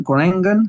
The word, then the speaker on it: Groningen: who are playing FC Groningen. Groningen, how do you say that, Rob? Groningen. Oh, yeah, totally different.